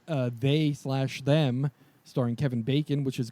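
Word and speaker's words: They/Them: horror series called uh they slash them starring Kevin Bacon which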